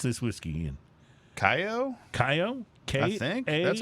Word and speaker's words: Kaiyo: KAIYO? KAIYO? I think that's how I pronounce it. KAIYO. KAIYO, right? Because it's got a K in there. No. KAIYO. There's no second K.